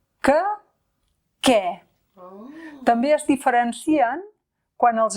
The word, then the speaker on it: què: Fixa't que aquest que es pronuncià de manera molt diferent a l'interrogatiu què, que és tònic. que què També es diferencien quan